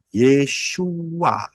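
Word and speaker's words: ישוע: Yotsin wau ayin bacanya Yesua.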